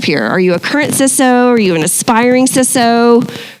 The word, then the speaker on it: CISO: Is it CISO or CISO? What is the right pronunciation? This is a very contentious question. Okay, strong opinions. It's CISO.